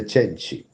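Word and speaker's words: Cenci: worst place including the sensei I think the Italian pronunciation is the cheni and prometheus unbound the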